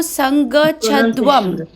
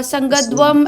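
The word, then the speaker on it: संगच्छध्वम्: ठीक है, और वो प्रोनाउंसिएशन में गलत था। ठीक है, तो वो संगच्छध्वम, फिर संवोदध्वम। ठीक है, आपने बोला संगध्वम, ऐसे कुछ बोला था। ठीक है, तो उसको ठीक करना है।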